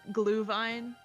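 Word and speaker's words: Glühwein: It's because it's like actually German, so the W sounds like a V.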